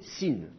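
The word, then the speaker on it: שׂין: le Chine en fait le Chine peut être prononcé dans certains cas non pas comme un son che mais comme un son et à ce moment-là on va le noter un S avec un petit accent aigu dessus et on va l'appeler sine d'accord donc dans certains cas le Chine va pas être prononcé che il va être prononcé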